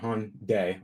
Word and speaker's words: Hyundai: There's that's how you say it, Hyundai, almost like Sunday.